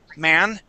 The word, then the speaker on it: man: Man would be with an A N. Okay. That's what I call the American whiny A. Man.